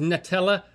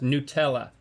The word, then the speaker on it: Nutella: - I think it started out as “nut-ella”, but it's pronounced “new-tella” - And because,